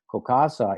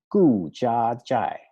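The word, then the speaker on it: 顾家宅: So Gokasa is the Shanghainese pronunciation for Gu Jia Zhai.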